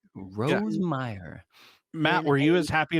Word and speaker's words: Rosemeier: know and it's awesome did I up your last name no that's exactly how you say it that's two in a row Rose Meer Matt were you as